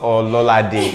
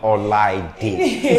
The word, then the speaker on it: Olaide: My name is not Ololade. It was mispronunciation of Olaide.